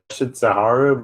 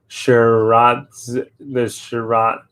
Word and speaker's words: Shiratsuyu: Somebody pronounced the ship the I think somebody not pronounce the ship name Shitsaharu, but I think it's pronounced the Shiratsuyu.